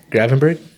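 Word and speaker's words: Gravenberch: this fool is going off um Garvin Burch is that how you say his name Gravenberg midfield tactician bro their whole team you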